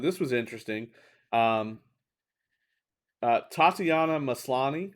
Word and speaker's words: Tatiana Maslany: was interesting um uh tatiana maslany i think is the pronunciation is gonna play jennifer